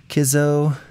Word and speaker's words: Kizzo: Kizzo rhymes with Lizzo.